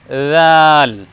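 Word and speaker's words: ذال: হবে এরকম দাল আর দ্বিতীয় বর্ণ উচ্চারণ হবে জাল আমরা জাল বর্ণকে একটু নরম করে বলবো ওই যে প্রথমে আমরা শিখলাম ছা বর্ণ ছা বর্ণ শিখেছি যখন তখন আমরা বলছিলাম যে জিহ্বার আগার সম্মুখ ভাগের ওপরে দুই প্রশস্ত দাঁতের আগার সঙ্গে লাগিয়ে আমরা বলব ছা তাহলে ছা যেমন করে আমরা উচ্চারণ করেছি আমরা জালকে ওইভাবে নরম উচ্চারণ করব প্রিয় দ্বীনি ভাই আমরা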